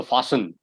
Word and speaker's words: fasten: you so the word that you're asking about fasten is the correct pronunciation yes you're right the t is sided so fasten yes that's correct thank you sir you're welcome